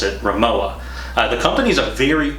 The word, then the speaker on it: Rimowa: a japanese company and i thought that you pronounced it Rema law but actually it's a german company and you pronounce it Rimowa the company is a very old company and